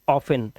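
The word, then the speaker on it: often: देना नसल ऐसे ही ऑफेन ऑफेन को ऑफ्टन भी बोलते हैं यहां पे टी साइलेंट होता भी है नहीं भी होता और इसका मतलब होता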